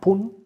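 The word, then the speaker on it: Kambo: from yes okay um it's called called cun but it's spelled Campell k a m b o so we take the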